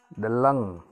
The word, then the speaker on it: deleng: Deleng, gunung. Nah, ini pengucapannya jelas ya. Deleng, gunung. Walaupun ada e di sini, itu tidak dibaca del, tapi del. Jadi sini jelas ya, deleng, artinya gunung.